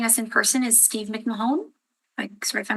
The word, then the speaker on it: McMahon: So, we have the next appellant joining us in person is Steve McMahon. Sorry if I mispronounced your name. McMahon. McMahon.